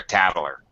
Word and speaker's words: tattler: a Tattler you're a Tattler it sounds weird pronunciation Tattler we add a syllable you're a Tattler tattletail of course a